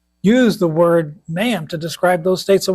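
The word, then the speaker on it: mayim: So the Hebrew word here for waters is mayam. It's m a yim.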